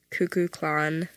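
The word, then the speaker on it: Kukulkan: he's like God no his name is pronounced cuckoo clan um he's The Feathered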